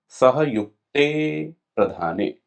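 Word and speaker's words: सहयुक्तेऽप्रधाने: ठीक है, ये जो अवग्रह चिन्ह है, ये चिन्ह यहाँ पर जो लिखा हुआ है, ये क्या है, अवग्रह चिन्ह है, साइलेंट रहता है, उच्चारण में इसका प्रयोग नहीं करते हैं। तो कैसे बोलेंगे, सहयुक्ते प्रधाने। ठीक है, तो इसका क्या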